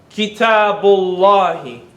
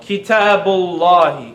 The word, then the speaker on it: كتاب الله: Kitabullahi. كتاب الله. Kitabullahi.